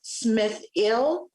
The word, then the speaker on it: Smith-El: My last name is Smith-EL, otherwise pronounced Smith-Ill.